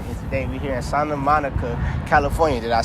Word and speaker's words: Santa Monica: And today we here in Santa Monica, California. Did I say it right? Yeah, Santa Monica. Okay, Santa Monica.